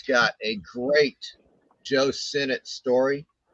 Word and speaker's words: Sinnott: So this is a signed Joe Sinnott copy of Spellbound. Well, if he signed it for you, then you ought to know his real name is pronounced Sin Not.